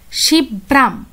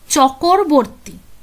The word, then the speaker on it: শিবরাম চক্রবর্তী: করতেন তো এখানে দেখো উনি নিজের নামটাকে এইভাবে উচ্চারণ করতেন শিব্রাম শিব ব্রাম চকরবর্তী চকরবর্তী ঠিক আছে তো সেই জন্য আমি